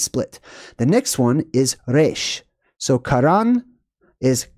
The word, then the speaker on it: resh: All right, so the letter R basically meant head, and it's pronounced resh.